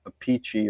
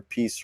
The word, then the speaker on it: Appice: I saw an interview with Carmine Appice or Appice or however he wants to say his name. So the funny thing is he says it's Carmine Appice. Yeah. But his brother says Vinny Appice. Appice, yeah.